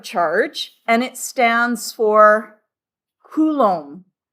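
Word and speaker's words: coulomb: And the accent's on the first syllable. Okay. a kulom each bucket of electrons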